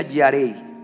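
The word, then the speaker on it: יָרֵא: el temor de Dios la palabra temor en el hebreo se escribe yare con y a r e yare se pronuncia yarei significa venerar significa reverenciar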